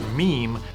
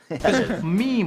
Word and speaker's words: meme: just go ahead and pronounce the word meme the way we all read it in our heads I admit something embarrassing yeah you're like my first two years on the internet I said I said Mamie yeah me too why